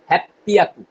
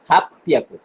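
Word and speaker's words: 八百: 800 তে একটু চেঞ্জ আছে, বিয়াকু। আর 800 তে বলবেন কি? হ্যাপিয়াকু। 600 আর 800 একই। এটা রোপিয়াকু আর একটা হচ্ছে হাপিয়াকু।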